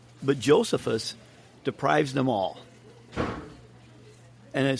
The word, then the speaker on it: Josephus: It's Josephus. It's Flavius Josephus. Okay, so in Latin, the J is pronounced like an I.